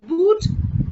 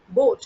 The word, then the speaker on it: Boot: does boat okay bwt not pronounced as boot is written like this is pronounced as boat okay b-o-a-t boat okay